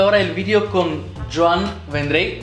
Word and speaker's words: Vendrell: La cuestión es la L, ¿no? Final, que a veces sí. Cuesta más. Vendrell.